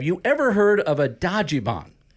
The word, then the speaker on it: Dajiban: You're the guy who knows everything about Dajiban.